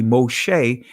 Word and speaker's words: Moshe: be not that uh the second consonant in hebrew name is a sheen all right as we see moshe this is a this